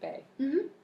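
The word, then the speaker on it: bae: And that's how you pronounce it, bay.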